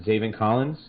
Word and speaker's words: Zaven Collins: But if they're valuing or they're looking for need at linebacker, best available, you got it's pronounced Zaven Collins.